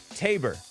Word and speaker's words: Tabor: Spoiler alert says Tabor. Rhymes with neighbor. Tabor.